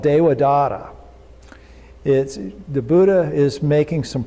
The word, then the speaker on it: Devadatta: So Dewa, D-E-V-A-D-A-T-T-A. The V is pronounced kind of like a W, so Devadatta.